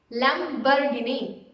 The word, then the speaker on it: Lamborghini: It's Lamborghini. Lamborghini. You have to hardly pronounce that bar, so you can just say it as Lamborghini.